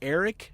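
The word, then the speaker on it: Erich: A guy named Eric McMahon, that's spelled with a CH, so E-R-I-C-H, McMahon, not McCann.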